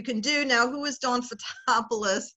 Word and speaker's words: Fotopulos: do now who is don'ts a topless that's the phonetic pronunciation of my Greek last name and my last name